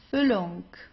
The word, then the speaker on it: Füllung: If you have a double consonant, you pronounce the vowel right before that very briefly, right?